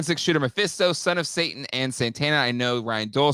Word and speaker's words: Satana: satana but let's let's put a pin in satana right that's how you pronounce it um I love the idea of